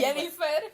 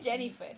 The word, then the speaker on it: Yennefer: Anyway, Yennefer? no, for real, that's her name. Oh, Yennefer. Oh, I thought you were Hispanifying her name. No. Yennefer Lopez. Genuinely, it's spelled with a Y. Jennifer.